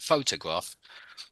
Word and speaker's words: photograph: it's photograph isn't it photograph sorry it's on the first first syllable photograph photographer a little